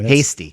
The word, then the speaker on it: Heasty: It's pronounced hasty.